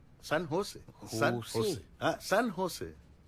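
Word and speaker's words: San Jose: ও বাবা, সান জোস? সান হোসে। সান হোসে, হ্যাঁ সান হোসে। জের উচ্চারণটা এইচ এর মতো হবে, সান হোসে।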